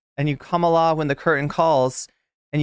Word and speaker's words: Kamala: follow Kamala Kamala around Kamala is not how you pronounce it Kamala it's academic at this